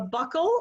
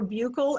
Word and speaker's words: buccal: A buccal or buccal agent, I've heard it pronounced both ways, are placed between the